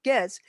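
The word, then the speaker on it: Gaetz: to matt getz um it's not pronounced gates matt getz he called them rick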